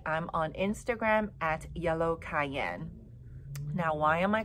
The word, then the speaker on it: 啟茵: And then cayenne, like I said earlier, is just a phonetic spelling or pronunciation of my Chinese name, which is Cayenne.